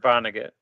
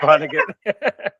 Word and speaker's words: Vonnegut: It's Kurt Vonnegut. You were confident. I'm very confident it's Kurt Vonnegut.